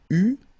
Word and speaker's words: eus: Okay, so j'eus, final S not pronounced, tu eus, final S not pronounced, il eut, final T not pronounced, elle eut.